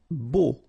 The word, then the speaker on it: beau: Beau. Okay, so remember we've got this strange combination of vowels, E, A, U, so three vowels, but then phonetically it's only O.